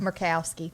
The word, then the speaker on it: Murkowski: Bill Cassidy of Louisiana, Susan Collins of Maine, Lisa, how do you pronounce her name? Murkowski.